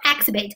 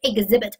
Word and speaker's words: exhibit: 对，exhibit 非常好啊，注意发音，它不成 exhibit，它读的是 exhibit，重音在第二音节。